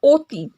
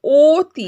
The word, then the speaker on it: অতি: ওকে, অবাক যেমন হচ্ছে, রাইট, কিন্তু এখানে দেখো অতি, এখানে অধ্বনিটির উচ্চারণ ও ধ্বনির মতো, রাইট, অতি আমরা কি বলছি, অতি।